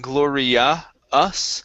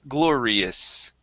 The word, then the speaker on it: glorious: here at the end instead of saying gloria us it's a short i sound is glorious glorious there you go good